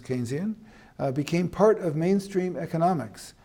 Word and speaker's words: Keynesian: theory as it's called it's not pronounced Kenny is pronounced Keynesian became part of mainstream